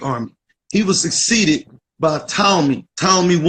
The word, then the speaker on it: Ptolemy: He was succeeded by Ptolemy, Ptolemy I, Ptolemy the First. You'll hear people say Ptolemy, but the P is silent. That's like saying pneumonia. It's not pneumonia, it's pneumonia. It's Ptolemy, Ptolemy the First, right?